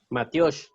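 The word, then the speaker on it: matyox: Matiosh. Ah, igualito como lo dijo Mike. Matiosh. Otra vez, ¿Cómo? Mario, otra Pero se vez. escribe cachiquel. No, Matiosh se escribe M-A-T-Y-A-X.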